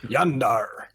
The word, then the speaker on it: Jander: gonna call him y j is pronounced with a Y how you doing yander hi Yan how you